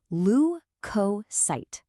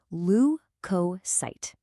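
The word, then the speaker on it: leukocyte: Lucosight. Let's try it again. Lu coight. See how the stress is on that first syllable.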